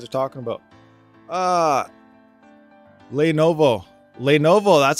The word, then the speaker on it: Lenovo: who you guys are talking about ah lenovo lenovo that's how you say it lenovo okay so this is a lenovo kind of